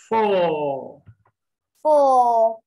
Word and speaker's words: four: two two three three four four don't say four but four the r according to british english rule when r comes at the end of a word or syllable it is not pronounced and that's why it's